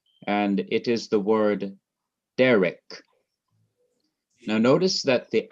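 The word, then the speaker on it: דרך: to the reader that in this word derek, you're going to emphasize the syllable before the last syllable, which is de.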